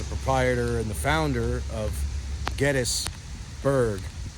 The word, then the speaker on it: Gettysburg: James Geddes, of course, is the proprietor and the founder of Gettysburg. It's not Gettysburg, it's Gettysburg is the proper pronunciation of this town.